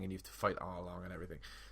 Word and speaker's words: Arlong: Is that how you pronounce it? I can't remember. It's Arlong, yeah.